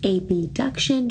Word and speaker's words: abduction: on we now have adduction and abduction which I like to pronounce as abduction just so we can clearly hear that b right now on the